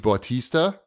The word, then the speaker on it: Bautista: Z the man legacy and it stars Dave Bautista is that how you say his name uh-huh